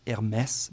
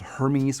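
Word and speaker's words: Hermès: By the way, it's pronounced Hermes because of the accon and not Hermes or anything else.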